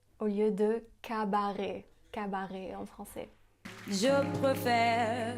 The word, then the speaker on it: cabaret: Elle prononce aussi cabaret au lieu de cabaret.